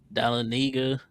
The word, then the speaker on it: Dahlonega: I said Georgia has a lot of cities no one can pronounce: Houston, Dahlonega, Decula.